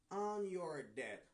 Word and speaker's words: debt: Number six, I am forever on your debt. I am forever on your debt. I am forever on your debt. Na pou nan debt, mpa prononcer B. Debt.